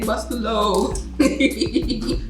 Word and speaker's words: Bustelo: She don't know how to open no Cafe Bustelo. That's how you pronounce it?